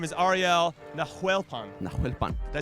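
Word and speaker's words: Nahuelpán: Nahuelpan. Did I say that right? That's perfect. God, your pronunciation's si better than mine.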